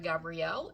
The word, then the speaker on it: Gabriel: He doesn't pronounce it Gabrielle, I'm sure, because I use the Spanish pronunciation.